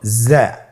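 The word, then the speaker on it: زا: উচ্চারণ করার সময় অবশ্যই 1 আলিফ টেনে পড়তে হবে।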